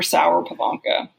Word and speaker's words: Sauer-Pivonka: You pronounced it right on. Sauer-Pivonka.